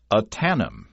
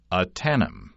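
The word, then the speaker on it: Ahtanum: can tell you that you pronounce it aanam aanam it's a Yakama Indian language word and it refers to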